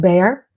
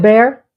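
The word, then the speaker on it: Bexar: you they want something how do you pronounce bear it's b e x a r is that bear like like bear my likes are going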